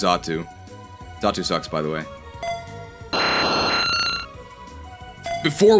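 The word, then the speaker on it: Xatu: call it X R2 I think it's pronounced zotu sucks by the way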